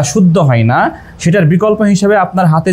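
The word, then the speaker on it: النَّاسِ: উচ্চারণ কি দেওয়া রয়েছে ওয়ামিনান নাচি না তো আসলে নাসি আর নাচি কত বড় ভুল প্রক্ষান্তরে আমাদের আদায়া পাবলিকেশনের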